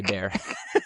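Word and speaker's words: Bexar: It's the one that has an X, B-E-X-A-R. Yeah, B-E-X-A-R, but we say Bear.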